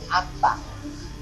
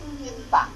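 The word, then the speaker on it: أنت: Orang Mekah kalau bilang kamu berbunyi anta. Kalau orang Madinah lain lagi. Yang pribumi ya, berbunyi. Lafaznya itu hamzahnya di bawah, inta. Orang Madinah kalau bilang kamu berbunyi inta. Kalau orang Mekah anta. Orang Madinah inta.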